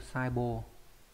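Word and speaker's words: 細胞: Có hai cách đọc là bô và hô, đây viết rõ ra đây nhá, sai bô. Trong đây đọc là sai bô này, còn trong cái từ đồng bào này đọc là hô, đô hô.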